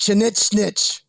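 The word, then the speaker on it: Chinigchinich: Yeah, it's pronounced Chinichnich.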